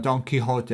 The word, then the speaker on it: Don Quixote: The proper pronunciation, Don Quixote, is like sort of the Hote. And you can even say it in a funny one. Donkey, like there's a donkey, Hote.